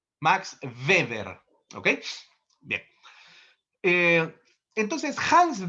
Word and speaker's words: Weber: No es Weever, nada de Weever. Max Weber.